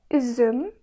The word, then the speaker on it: üzüm: Üzüm. Üzüm. İngilizce'de bu ses mesela cute kelimesinde biraz var. Tam olarak aynı değil ama benzer. Üzüm, cute. Üzüm, cute. Yani bu sesi çıkartırken ağzınız bu şekilde olmalı.